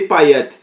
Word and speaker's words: Payet: do Dimitri paer paet na verdade na França é Pet né aqui no Brasil que a gente muda um pouquinho né a pronúncia na verdade é Dimitri payet mas se tratando do